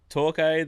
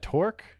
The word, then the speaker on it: Torquay: like and Torquay, like they've won now 4 events. Is Yeah. it Torque? I Torquay. would say it Torque, but they keep saying Torquay, so I would just say that.